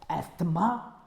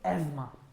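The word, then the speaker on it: asthma: देखिए बच्चों, इसकी correct pronunciation is नॉट एस्थमा, इसकी प्रोनाउंसिएशन होती है एस्थमा।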